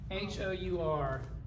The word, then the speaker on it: hour: H-O-U-R. Is it hour or an hour? It's an hour. Why? We don't pronounce the H, right? We don't pronounce this H, so the first sound is that one.